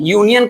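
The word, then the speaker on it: union: यूनियन का उच्चारण यू होता है। यूनियन। इसका उच्चारण यू हो गया।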